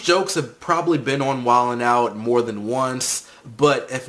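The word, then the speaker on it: Wild 'N Out: It's spelled Wilding Out, but I'm pretty sure they say Wildin' Out.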